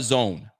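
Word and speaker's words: DAZN: watching the game on the zone not the zoom the zone d-a-z-n that's the way it's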